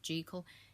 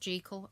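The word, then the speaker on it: Jekyll: Yes, it's pronounced Gekle. It bugs the heck out of me. It looks like Jackal, but it's pronounced Gekal and I don't get why.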